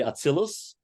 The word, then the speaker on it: Atzilut: say Spheres sometimes, and instead of Atzilut, I might say Atzilus, but just understand that we're talking about the same thing. It's just a slight variation in the pronunciation.